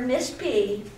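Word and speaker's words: Pfilligree: Well, you could, but I think I'd prefer Miss P. My name is spelled P-F-I-L-L-I-G-R-E-E. The P is silent, like it is in pneumonia. You don't say P pneumonia.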